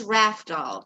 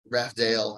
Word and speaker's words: Rafdal: Rafdal, I've heard of. Rafdale, I hear a lot. if I'm trying to spell it out for somebody, they'll hear the F as an S, so I get a lot of Razdal.